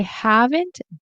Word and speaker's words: haven't: So I haven't been sounds Oh, it sounds so weird. I say been. I'm going to say been because it sounds more natural. And I also personally don't pronounce the T here.